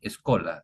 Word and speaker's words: scholae: Se pronuncia en latín escola.